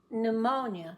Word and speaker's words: pneumonia: on the pretty plate it can be silent in a few words such as pneumonia the lung disease pneumonia no sound pneumonia is bad I